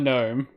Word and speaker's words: gnome: it g and uh you know like like spell it out oh no g-u-h and then n-o-m-e god gnome there you go yeah yeah um people get